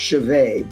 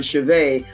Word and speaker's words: Cehovet: And she spells her last name C E H O V E T, but it's pronounced Chaveet. is easy, but Chaveet, I want to make sure you get the spelling right.